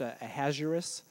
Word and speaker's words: Ahasuerus: Yeah, I've heard it pronounced Ahasuerus, or the other term is King Xerxes.